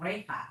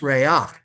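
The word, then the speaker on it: רֵיחַ: It's not recha, it's reach. This is that exception. When you have, when you have a chet at the end of a word with an with this comets at the end, it's reach.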